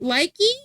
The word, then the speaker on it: lychee: Is it likey, lychee, loot, and bad financial decisions?